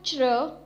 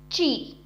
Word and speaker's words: zhi: ZHI has a pronunciation of chr, chr. Repeat after me, chr, and not chi.